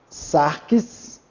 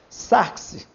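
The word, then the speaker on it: σάρξ: Sacros, sarques, sarques, tá vendo? Botei um X aqui, mas não confunda, é um som de xi, sarques. sarx.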